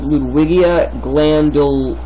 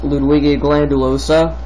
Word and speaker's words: Ludwigia glandulosa: and it is called Ludwigia glandulosa, I believe it's pronounced, Ludwigia glandulosa. And it's quite large.